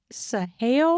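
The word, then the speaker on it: Saale: the best topper for this at Walmart it's sah snacks I'm going to spell it for you s a a l e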